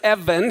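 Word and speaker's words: אבן: okay okay so here's Evan here you have the olive bet EV there's no ball in the middle of the B and the final noon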